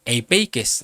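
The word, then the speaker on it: ἐπιεικής: Y esta viene de una palabra griega que se pronuncia eipeikes, es la G1933, que quiere decir apacible, suave, y tiene que ver con una mente repleta de paz.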